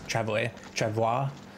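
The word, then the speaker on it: travois: actually walk travel away uh it's spelled t-r-a-v-o-i-s travel it's like a French French word but yeah there's a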